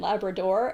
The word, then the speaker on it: Labrador: It's called Newfoundland and Labrador, and they both get final stress. And I think that helps a little to remember how to say it.